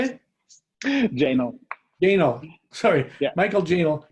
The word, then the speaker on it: Jahnl: Jahnl.